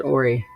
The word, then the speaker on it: Horry: But North Myrtle Beach in South Carolina, there's a county out there called Horry. They pronounce it Ori. I was like, nah, you bitches are all for sale. It's Horry.